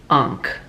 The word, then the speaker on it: ankh: short arms yes he is talking about the ankh or yeah that's how you pronounce it so you can imagine if the